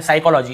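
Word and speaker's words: psychology: पी में पहुंच गए एस से पहले पी आए तो पी साइलेंट होता है तो देखिए एस से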